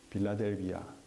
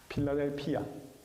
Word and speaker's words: 필라델피아: 그래서이 형을 사랑하는 자가 세운 도시이기 때문에이 도시의 이름이 빌라델비아. 이거 한국식 발음이고요. 필라델피아.